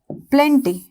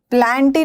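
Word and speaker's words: plenty: प्रतिज्ञा करना ठीक है प्लेंटी प्लांटी नहीं होता है प्लांटी नहीं होता है प्लेंटी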